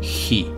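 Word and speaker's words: 日: La danza del dios del fuego y el aliento solar son lo mismo, porque de hecho el kanji en la escritura japonesa de sol y fuego se pronuncia igual, hi.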